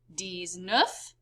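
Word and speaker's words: dix-neuf: they kind of do it in reverse in french they say 10 7 10 eight ten nine pronounced like this d set d sweet dis nuff and the number for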